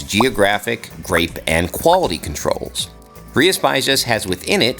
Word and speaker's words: Rías Baixas: Yes, it's pronounced Rías Baixas, and once you get the hang of it, it rolls off the tongue, I promise.